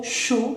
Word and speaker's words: chaud: Avoir mal, avoir chaud, tener calor, chaud, es que la D no la pronuncio, y AU es sonido O, chaud, y la CH, chaud, ¿bien?